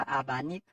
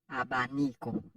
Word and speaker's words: abanico: abanque abanque en mémoire c'est pas abanque c'est abanic abanico qui signifie V la